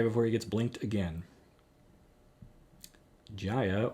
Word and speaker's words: Jaya: he gets blinked again jaya or yaya as i'm told to pronounce her name i've never heard it said that way but if that's what people in the comments think it should be then that's that's fine uh this version of chandra